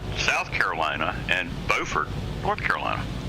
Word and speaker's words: Beaufort: one in South Carolina spelled the same way and pronounced totally different Beaufort South Carolina and Beaufort North Carolina yeah